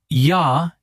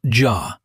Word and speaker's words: ja: In German, the letter J is always pronounced like the English Y. Always. No exceptions. Always Y. Okay. So, yah. Yes. Not jaw.